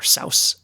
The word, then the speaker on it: Seuss: places you go by Dr Seuss or Dr sa as it's supposed to be pronounced you might think that